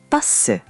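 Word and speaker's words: 버스: Here's buh-suh. Buh-suh. Buh-suh. Perfect pronunciation.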